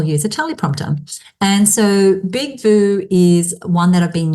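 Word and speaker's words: BigVU: off today is called Big View. And it's spelt big, as in the word big, and view is just VU.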